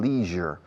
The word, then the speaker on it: leisure: Los británicos dicen leisure para el tiempo de ocio. Leisure se escribe. Leisure. Los americanos dicen leisure.